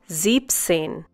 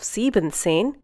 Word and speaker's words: siebzehn: Siebzehn. Instead of siebenzehn, you say siebzehn. Once again, siebzehn. In this case, you remove the en from sieben and add it to the zehn. Siebzehn.